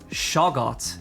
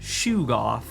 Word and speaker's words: Shoggoth: And I disagree with how Chaosium thinks Shoggoth is pronounced, because they think it's Shugoth, and I think that's stupid.